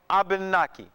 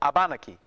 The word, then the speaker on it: Abanaki: native people called themselves abanaki or abanaki okay and excuse me SP a it's spelled various ways but one way you can spell it is AB A N A Ki abanaki or wabanaki and the same area